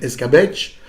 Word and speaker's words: escabeche: En Espagne et au Portugal, ça s'appelle escabeche, donc avec le V qui se prononce B, hein, le B comme une bâche espagnole.